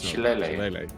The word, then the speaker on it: Shillelagh: Shilalach? Dat would come Shilalach? Well, I'm never sure how to pronounce that. Shillelagh. The druid Shillelagh. Shillelagh? Yeah, that's Shillelagh.